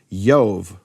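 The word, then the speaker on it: Iove: First of all, there's no J in Latin, right? So in Latin he's called uper. And I actually spoke to an expert in Latin to confirm this. So today in Latin they say yove or jo for Jupiter, right?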